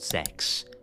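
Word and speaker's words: CeX: So, in England, we have this shop called Sex, but we pronounce it C E X because telling someone you go into the sex shop might not go down well.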